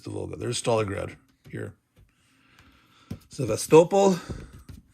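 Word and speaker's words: Sevastopol: vulga there's Stalingrad here sast got to get the accent on the right syllable not sast but sast rostov kov Eve say it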